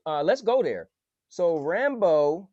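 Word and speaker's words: Rambeau: talking cool so uh let's go there so rambo how am i saying her name how do you say her name yup monica rambo she was talking about captain marvel at the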